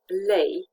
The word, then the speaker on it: lei: A, in words such as vrei, you want, lei, which has two meanings, lions, and Romanian currency in the plural. And this is pronounced as the EI in vein, for example, the vein.